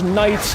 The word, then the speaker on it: knights: Why does knights have a K in it? You don't pronounce the K.